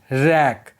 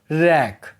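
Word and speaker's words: wreck: देखो अगर डब्ल्यू के बाद आर आए तो डब्ल्यू साइलेंट रहता है। Example rap means लपेटना। रैक means विध्वंस। यहां पर आप देखोगे डब्ल्यू के ठीक बाद आर आया है। इसीलिए डब्ल्यू साइलेंट है।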